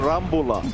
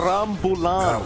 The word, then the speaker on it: rambulan: I noticed you haven't been calling it this, but this is what we call a rambula, right? Filipino versus Filipino match. A rambulan. Pronounce it properly, sir.